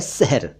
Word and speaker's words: शहर: और एक शब्द है शहर वैसे आपको दोनों एक जैसे लग रहे होंगे सुनने में, लेकिन थोड़ा सा फर्क है इनके उच्चारण में।